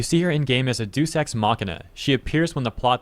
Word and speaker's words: Deus Ex Machina: It's pronounced Deus Ex Machina.